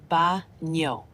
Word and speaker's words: baño: ¿Dónde está el baño? The word baño is pronounced baño with a soft ñ sound like in the English word canyon.